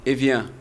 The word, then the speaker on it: Evian: Como é que se pronuncia? Evian. Evian.